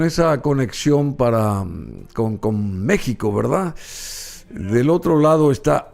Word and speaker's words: México: a veces muy difícil porque decimos México con j pero es México con x y el símbolo de